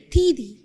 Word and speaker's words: 弟弟: So, you see a D, right? Yes. And in pinyin pronunciation, we pronounce it the D.